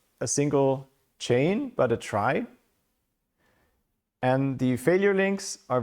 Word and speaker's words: trie: general is called a try. Uh pronounced is written as in retrieval but pronounced like in try.